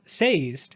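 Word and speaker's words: Sazed: I'm very adamant that the name SED from mbor rhymes with dazed and is not how the Audi book says yeah exactly with two syllables and people hate that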